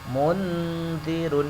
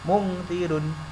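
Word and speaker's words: مُنْذِرٌ: Contoh ini yang berupa nun mati, mundirun. Nah, seperti itu bacanya, mundirun. Tidak boleh mungdirun, tidak boleh dengung juga tidak boleh. Mungdirun, yang tepat ketika membaca nun mati ini sudah persiapan masuk ke dal.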